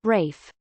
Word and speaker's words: Ralph: usually a jaeger lakultra being called ralph but pronouncing it rafe mark zuckerberg in his